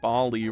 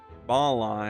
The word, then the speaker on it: Bali: You've been saying Bali wrong, by the way. What? What's it pronounced? How's it pronounced? Biali? Bali? Bali. Okay.